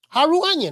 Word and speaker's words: Harutyunyan: Union that's his name he fought a dude that name rhyme with onion Haru onion right um Frank Martin did